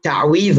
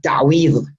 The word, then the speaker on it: تعویذ: قرآن میں تعویذ کو صحیح طریقے سے آپ تلفظ کریں, عربی میں تعویذ ہوتا ہے, تعویذ.